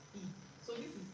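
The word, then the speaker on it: 이: And then Lee Min Ho, his name is not Lee, right? His name is E.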